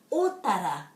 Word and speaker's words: Otara: Otara, otara, otara. The O is always o and the A is always a. Otara, otara.